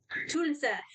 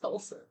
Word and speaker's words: Tulsa: Tulsa. That is how many people mispronounce it. It's Tulsa.